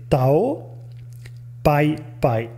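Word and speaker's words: Tao Pai Pai: case in the past Toriyama Sensei uses the Chinese pronunciation of these characters which make it Tau bye bye and in an interview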